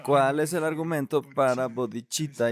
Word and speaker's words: bodhicitta: No se pronuncia bodhicitta con C, es cha, es CH, duh.